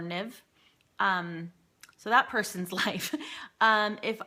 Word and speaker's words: Niamh: And that's, for those of you who don't know, that's pronounced like Neve or Niv.